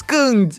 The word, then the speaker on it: second: Vamos começar dizendo sé, como na palavra sétimo. E por último, a gente diz second.